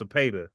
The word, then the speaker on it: Cepeda: It's pronounced Cepeda.